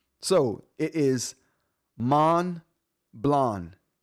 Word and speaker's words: Montblanc: Don't pronounce the T and the C. So, it is man blonde.